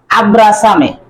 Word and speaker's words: abrázame: Because this letter name is zeta and it will be pronounced like so. In English it is Z, but in Spanish it is zeta and it will be pronounced like so. That's why it is abrázame.